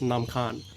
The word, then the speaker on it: Nam Khan: the khan river um in lao it's it's pronounced nam khan na means water um